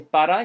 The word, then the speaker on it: para: He actually pronounced it slightly differently. He said something more like, mira la cámara para que te vean. So he didn't say para, he said pa.